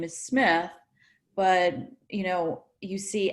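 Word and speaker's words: Smidt: you know you think the family name is Smith but you know you see SMI DT which is pronounced Smith and it's not it's not on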